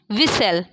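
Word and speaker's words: whistle: the world वि विस्टल विस्टल में आपका क्या साइलेंट है अगर हम लोग बात करें तो विस्टल विस हम लोग क्या पढ़ रहे हैं विस्टल विसल है ना क्या पढ़ते हैं विश विसल हम लोग क्या पढ़ रहे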